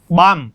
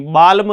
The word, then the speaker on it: balm: तो बाम, इसको बाम पढ़ेंगे, बाल्म नहीं, ये पढ़ा जाएगा बॉम, ये पढ़ा जाएगा कॉम, कॉम ब नहीं, कॉम बॉम।